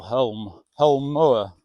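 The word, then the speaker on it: Holme Moor: And on to our next one, which will be Home Moor. That's spelt with an L, Home Moor.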